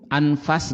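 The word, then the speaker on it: أنفَس: Anfas dengan fa-nya itu fathah.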